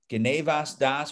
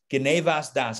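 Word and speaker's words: גניבת דעת: soon is the term genevas das or geneva depending on how you wanna pronounce it i'm gonna go ashkenazi on you genevas das geneva means mind theft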